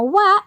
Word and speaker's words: は: Nah, wa di sini emang tulisannya ha, tapi cara bacanya wa.